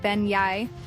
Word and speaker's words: beignet: quite like a fresh, hot beignet, pronounced bey, these are not your average donuts.